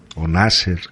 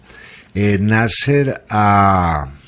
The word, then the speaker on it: Nasser: egipcio d cuando aparece nacer gamal abdel nasser nasser como el pronunciarían en inglés nacer tumbado un golpe de